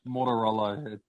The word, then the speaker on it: Mortaruolo: Mortaruolo.